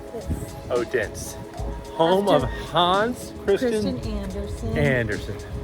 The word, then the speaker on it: Odense: Odense.